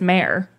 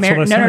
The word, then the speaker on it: Mare: Her name is Mayor. It's not Mary.